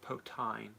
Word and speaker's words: poutine: It's pronounced potine.